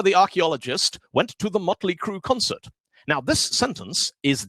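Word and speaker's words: Mötley Crüe: looks cool first time motley crew went to germany on a tour the audience were all shouting mueller crew merit crew because that's how you pronounce these letters with all that and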